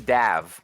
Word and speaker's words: Dav: And I just got word from Dav that it is Dav. So now we know that's how you pronounce their name.